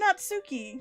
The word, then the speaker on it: Natsuki: Just like that, Natsuki is it Natsuki or Natsuki? Natsuki. There's actually quite a fair amount of names you're pronouncing incorrectly.